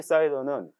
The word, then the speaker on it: CIDR: VPC 사이더는 한 번 생성하면 변경이 불가능하기 때문에 넓은 주소 범위로 설정할 것을 권장합니다. 주소 범위 사이더를 이해하기 위한 참고 슬라이드입니다. CIDR은 보통 사이더라고 발음하는데 클래스레스 인터 도메인 라우팅의